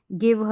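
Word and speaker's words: give: जी के बाद में जैसे यहाँ पर बोला कि जी के बाद में आई रहेगा तो ज पढ़ेंगे, लेकिन यहाँ पर ग पढ़ा जा रहा है।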